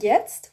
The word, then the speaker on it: jetzt: And jetzt, what does jetzt mean? Now. Jetzt. Now. So what is now in German? Jetzt. Tst, tst. Jetzt. Jet. Jet. Jetzt. Jetzt.